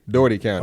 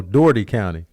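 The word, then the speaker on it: Dougherty: Oh, Doherty County. Okay. Also, the English language is crazy. It's stupid. Doherty County. Because that's how it should have been spelled. DOORTEE. Yep. Doherty. This is Doherty County, Georgia.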